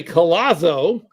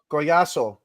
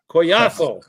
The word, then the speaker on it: Collazo: And when we look at your last name, we can say collo or we can say what? Coyaso. Coyaso because the double L is never.